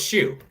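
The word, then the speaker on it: Hsu: Oh, it's Shoe. Shoe? Okay, cool. Yep, the All H right. is silent. It's just Shoe.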